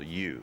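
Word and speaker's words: yew: And they were usually made from a wood called U. That's spelled ye W.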